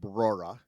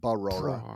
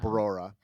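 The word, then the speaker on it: Brora: You added a syllable. I think it's just, you said it right the first time. Barora, not Barora, but Barora.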